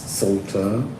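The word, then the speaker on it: Psalter: I want to say Salter P.S Salter silent P it's like you are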